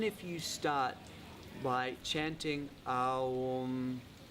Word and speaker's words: Aum: What I would also say is this: when we are chanting Aum as a vocal mantra, we chant it with all 3 syllables, the A, the U, and the And we see that mantra,